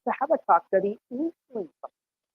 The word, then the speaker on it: Habakkuk: So let's talk about the prophet Habakkuk, or Americans saying Habakkuk. Oh, they pronounce things weird.